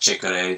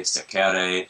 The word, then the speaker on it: shekere: This is an instrument, contemporary version of a traditional West African instrument called a shekere, also sometimes pronounced chekere, sekere, chekore.